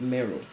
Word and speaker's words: Meroe: episode we'll be looking at another nubian kingdom meruwi also sometimes pronounced mero napata the capital city of kush was sacked